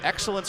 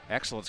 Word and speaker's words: Excellence: And that's on Excellence Greer, her 1st foul. She checks in a minute ago. Excellence Greer, by the way, that's spelled with an XT. The X is silent in excellence.